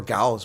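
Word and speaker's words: Gouws: The exception is Goes, Ronaldo Goes, because he mispronounces his name. It's spelled Goes, G-O-U-W-S, or Gals. We could say Gals.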